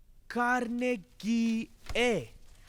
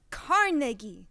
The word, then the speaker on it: Carnegie: The sign on it says Carnegie. It's pronounced Carnegie, not Carnegie.